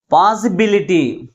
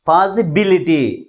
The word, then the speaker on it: possibility: Third syllable from the last is pronounced with a greater force comparing with other syllables.